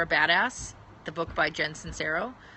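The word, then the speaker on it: Sincero: badass the book by Jensen cero I think that's how you say her name it's si NCE ro it's called your badass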